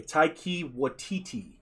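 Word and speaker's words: Taika Waititi: people to pronounce his name correctly okay taiki watiti that's how you pronounce it i'm probably butchering it but he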